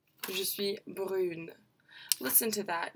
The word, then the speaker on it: brune: Not only do we change the and end up pronouncing that N at the end, we also change the way that the vowel is pronounced with this one.